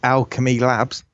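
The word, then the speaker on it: Owlchemy Labs: um first game I think from from the developers um which are Alchemy Labs. It's spelled owl chem.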